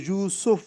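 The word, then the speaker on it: یُوسُف: ذہن میں رکھ لیجئے۔ تو یوسف عام طور پر رکھا جاتا ہے، کہا جاتا ہے، لیکن قرآن مجید کا جو تلفظ ہے اس لفظ کا وہ یوسف ہے، سین کے اوپر جو ہے وہ پیش ہے، یوسف۔ تو یہ قرآن مجید،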